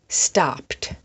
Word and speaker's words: stopped: For example, stopped. That has a pt on the end. Stop is one syllable. Stopped is also one syllable.